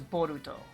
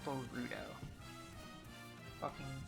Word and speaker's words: Boruto: names being Bordeaux Rudolph and Todd the first syllables of their names create boruto a Japanese transliteration of Bolt oh it's a boruto not b rudo my white ass the [